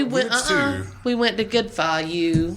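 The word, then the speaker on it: Phở: No, we went we went to Good Fu. Fo.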